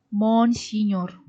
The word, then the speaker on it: Monsinyur: diosesan is a Hai Uskup itu disingkat mgr tapi membacanya monsinyur Ya udah ya Udah